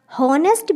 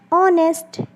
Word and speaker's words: honest: हॉनेस्ट भी तो हो सकता है, बट हम इसे क्या यूज़ करते हैं? हम इसे प्रोनाउंस करते हैं क्या? ऑनेस्ट।